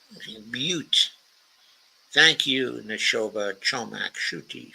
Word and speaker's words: Butte: So Neshoba Chomak Shuti says, pronounced Butte. Butte.